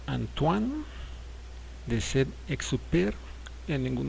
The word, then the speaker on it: Antoine: texto El Principito eh se pronuncia antoan de ser exer en ningún momento es Antoine porque es francés se